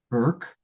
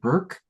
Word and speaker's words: Bourke: So our beloved Hannah Burke um spelled like Bourke but spelled but pronounced like Burke is going to close us out this evening.